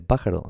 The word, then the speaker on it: pájaro: Sí, se dice pájaro.